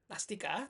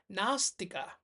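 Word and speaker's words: nāstika: Bukan Nastika, tapi karena ada A yang panjang. Nastika.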